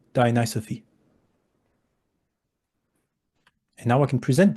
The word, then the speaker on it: Dionysophy: titled it diophy and sorry Greek people we're going to pronounce this the American way dius Sophi di Sophi and now I can